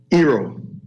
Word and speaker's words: Eero: Eero. Eero. Yep. Yeah. How do you spell it?